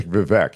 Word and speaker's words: Vivek: The other gentleman whose last name I sadly haven't learned how to pronounce. Yeah, Vivek. Just say Vivek.